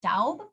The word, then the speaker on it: Daub: After a hiatus working as a legislative aide for Representative Hal Daub. Okay. That's how you pronounce his name.